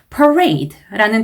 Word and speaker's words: parade: 이렇게 발음을 해주셔야 되고 parade라는 단어는요. 강세가 앞쪽이 아니라 뒤쪽에 들어가요. parade. 강세를 잘못 넣으면 특히 요새는요. 큰 감점, 가산점의 요소가 됩니다. 그래서 강세를 신경 써서 발음을 해주셔야 돼요. parade 아니고 parade 이렇게.